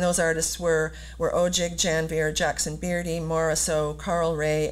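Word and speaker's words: Janvier: included jackson beardy alex janveer and daphne ogig and i have to just say i'm saying janveer because that's how alex pronounces his name and i know that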